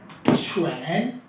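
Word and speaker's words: 犬: मेरे ख्याल से मैंने क्लियरली लिखा, ये डॉग है, इसके मायने हैं डॉग के और प्रोनाउंसिएशन है छुएन, राइट। छुएन छुएन।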